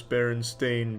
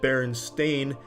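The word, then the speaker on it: Berenstain: report and strangely enough I used to actually pronounce it Baron stain but I was constantly corrected by the teacher and my parents saying Charlie take that brillopad out of your mouth and say it the correct way or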